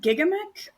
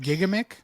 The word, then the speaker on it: Gigamic: GI J G Gigamic I think. Gigamic. Yeah. I always forget how it's supposed to be pronounced. It's under the hood. It's a French publisher from France, so it's probably Gigamic.